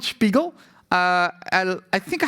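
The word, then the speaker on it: Spegel: It's called Spiegel. Um it's pronounced a bit weird this Swedish word. Uh it's called Spiggel.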